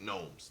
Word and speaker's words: Gnomes: Gnomes. Yeah, I'm saying Gnomes. I'm saying pronounce The G is silent. The G is silent. The G is silent. Gnomes.